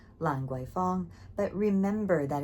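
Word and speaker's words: Lan Kwai: an alley actually called Langu. But remember that in English it's spelled with a K and in Cantonese it's going to be spelled with a G, not spelled but it's going to be pronounced with a G.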